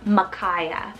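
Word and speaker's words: Makaiah: kind of a Biblical name here we have Makaya so m-a-k-a-i-a-h Makaya this one could definitely be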